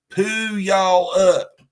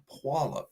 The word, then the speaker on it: Puyallup: See, and I say it right too. A lot of people would be like, "Poo y'all up." Puyallup is how I was taught.